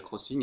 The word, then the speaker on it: Xing: c'est un réseau social qui s'appelle Crossing et qui s'écrit xing, xing.de. Il est d'ailleurs utile si vous cherchez l'acheteur pièces techniques électroniques sous capot moteur chez BMW.